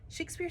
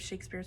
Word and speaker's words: Shakespeare: Harold Cornig, author of the definitive Shakespeare's pronunciation, thought it was possible that Shakespeare said it with a short A, as in shack.